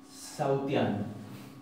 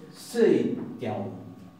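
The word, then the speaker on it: sautján: No se va a decir sautiano, como uno podría llegar a ver. Se dice seitian, seitian, seitian. Porque este diptongo que está acá se va a pronunciar ahí.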